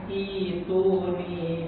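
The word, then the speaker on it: ائتوني: Apabila memulai kata di dalam Al-Ahqaf ayat 4 ini nih, tulisannya seperti ini, ada hamzah wasol, kemudian hamzah qata, ya. Ya, ini nanti dibacanya dengan ituni bi kitab.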